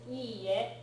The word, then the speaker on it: iie: And note that it is iie versus ie. One i in ie, that's a house. Huge pronunciation and meaning difference there. The pronunciation difference sounds small to our ears. Japanese people think it sounds obvious. So iie versus ie, very important distinction.